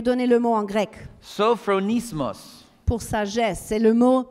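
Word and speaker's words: σωφρονισμός: Sophronismos. Pour sagesse, c'est le mot sophronismos. You want to try pronouncing that word vous with voulez me? Le prononcer avec moi? Sophronismos.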